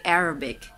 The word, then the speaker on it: Arabic: Ay, kana siyang Arabic, it's actually Arabic. Arabic. So, asa ang mga stress? Nasa first syllable. Latin. Arabic. Arabic.